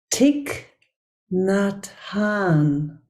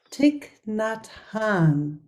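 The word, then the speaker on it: Thích Nhất Hạnh: Community the community of I just learned how to say the name tick not Han I've also and maybe some of you make the same mistakes so it's actually tick not Han um who passed this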